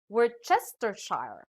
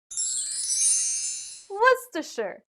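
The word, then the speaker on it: Worcestershire: what do you say some may read this as word chestershire or we're sister shar but how do we really pronounce this word the dictionary says it should be what's the shirt i understand how you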